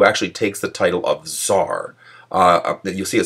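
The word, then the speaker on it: tsar: it spelled TS R tar because it's pronounced with that kind of T sound but he he had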